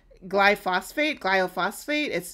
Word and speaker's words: glyphosate: Glyphosate. It's spelled GLYPHOSATE.